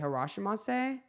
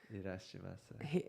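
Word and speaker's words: いらっしゃいます: And he's like, I can't say Harashimasu. Irashimasu. How do you say it? It's an I. Like Irashimasu. It's almost Irish, but irashi.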